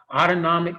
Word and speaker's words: autonomic: And so the brainstem is that autonomic nervous system, that point of fight or flight, but it's really sort of that autonomic rhymes with automatic system.